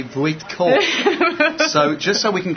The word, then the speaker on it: Voytko: And the correct pronunciation of Kathy's name is Kathy Voytko.